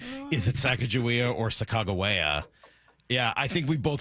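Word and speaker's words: Sacagawea: I don't think they call it Sakajia. It's now Sakagawea.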